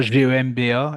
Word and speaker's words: Gemba: Et c'est vrai qu'il nous parlait notamment de cette pratique du lean management qui est le Gemba, je pense qu'on le prononce comme ça, Gemba, et que Ok.